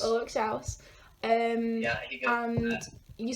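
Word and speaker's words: Ulrich Schnauss: So you had your collaborations with, I can't pronounce it, is it Ulrich Schau? Yeah, that's right. That's right. Ulrich Schnaus. Ulrich Schnaus.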